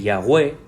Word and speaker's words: Yahweh: Porque ese nombre, Yahweh, que es la forma que tenemos de decirlo, usted lo pronuncia cada vez que respira y expira. Esos dos sonidos son los que se asemejan más a la pronunciación del nombre del Señor.